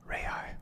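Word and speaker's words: real: national language of brazil the reya or as i'm told it's pronounced is its official currency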